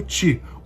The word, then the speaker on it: qi: vai começar explicando sobre o tchi que se escreve QI é uma palavra chinesa e a pronúncia dessa forma porque é uma palavra chinesa lógico e ele é uma